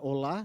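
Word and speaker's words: עולה: E na palavra hebraica, que é a utilizada por Moisés aqui, no Levítico, ela é uma palavra chamada olá, né? Olá, a sílaba tônica é o olá, e que ela significa aquilo que sobe.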